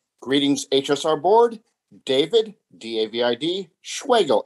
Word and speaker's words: Schwegel: David, D-A-V-I-D, Schwegel, S-C-H-W-E-G-E-L. Spelled like Schwegel, rhymes with bagel.